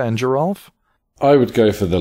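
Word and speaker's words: Geralf: is it jesa and Geral or Giza and Geral I would go for the latter believe it Giza and Geral so it's the soft and hard G and respectively so the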